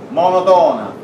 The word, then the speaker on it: monotona: A con n si dice monotona, l'accento va sulla seconda O, sulla terza O, monotona.